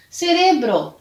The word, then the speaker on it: cerebro: que não tem espanhol porém mudando local da sílaba tônica vamos ler sério grupo em português cerebro em espanhol cérebro cerebral